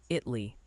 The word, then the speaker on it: Italy: Multiple viewers are saying Italy, Texas is pronounced Italy. Apparently the A took the day off.